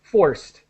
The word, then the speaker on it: forced: just want to help with forced a t- sound as quick as possible forced now do we have